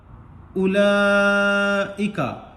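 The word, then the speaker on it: أولئك: आगे देखें, उलाइका, अलिफ पेश उ, वाव साइलेंट, वा उलाइका में जो वाव है इसको नहीं पढ़ेंगे, ठीक।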